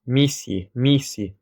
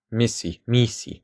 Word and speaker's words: misi: So, like in this Coptic word, it's going to be pronounced misi, which means birth, not misi.